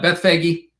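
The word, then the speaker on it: Bethphage: Uh, Beth Fagi, house of unripe figs.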